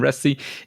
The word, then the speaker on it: Reste: because we have Ry with us today Ry is that is that the way to pronounce it yeah yep yep you're one of